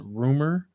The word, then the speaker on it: RMR: to another person his title is rmr but it's pronounced rumor oh that's how you